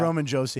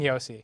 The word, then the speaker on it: Roman Josi: I said Roman Josie. Yeah, Roman Yosi. It's Yosi.